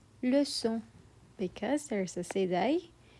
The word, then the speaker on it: leçon: It's pronounced as leçon, leçon, because there's a sédaille. The C turns into a soft S sound.